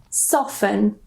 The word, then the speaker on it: soften: We normally just pronounce this as fin. So the T completely silent again. For example, soften.